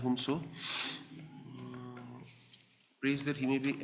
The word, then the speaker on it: Humso: Humso, that is how you pronounce it, Y. Humso, prays that he may be allowed to withdraw